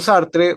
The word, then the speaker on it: Sartre: A ver, Heidegger está también Sartre, Sart, como le llaman algunos, Sartre. Está también Albert Camus o Camus en la pronunciación francés y está también Jasper, un filósofo alemán también existencialista.